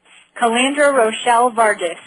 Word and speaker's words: Calandra Rochelle Vargas: And I want to make sure that I don't get the pronunciation wrong. Ms. Vargas, please give it to me. Calandra Rochelle Vargas.